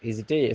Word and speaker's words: hésiter: Hésiter, ça démarre par un H muet.